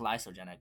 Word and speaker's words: lysogenic: Sorry, it's actually pronounced lysogenic.